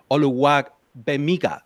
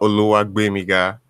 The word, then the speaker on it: Oluwagbemiga: And Josh Oluwagbemiga. Am I saying it right, man? No. Oh, my God. Please help me out. It's Josh what? Yeah, so it's Oluwagbemiga.